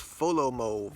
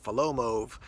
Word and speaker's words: Folomov: is from a company I believe it's pronounced foe Lomo or follow moe these guys reached out